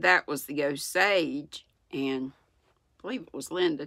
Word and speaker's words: Osage: make of it he said that was the Osage and believe it was Linda told me that's